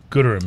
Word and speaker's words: Gooderham: Gooderham is how you say it, yeah.